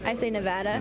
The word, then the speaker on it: Nevada: So what way do you guys pronounce the state's name? Nevada. It's absolutely Nevada. And what way do they say it wrong? Nevada is how most people say it.